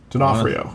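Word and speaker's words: D'Onofrio: I have Vincent Dionafrio. Denafhrio. I gotta say Denafhrio, but it's spelled Dionafhrio.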